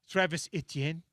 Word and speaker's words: Etienne: Yeah, it's not like it's almost 2 syllables instead of 3. Etienne. And you probably gotta you have to make a hand motion and make your face look funny. Travis Etienne.